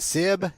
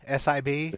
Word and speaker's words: Sib: The drummer for Boston is, we're probably going to pronounce his name wrong. Is it Sib, S-I-B?